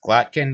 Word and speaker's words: Glottkin: glotkin has two T's how's going phonetically it's glotkin I'll just spell it